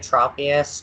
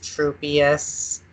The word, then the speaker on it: Tropius: Pokemon Oh evolutionary line do you say Tropius true pious or something else true peace Oh a third way yeah and I say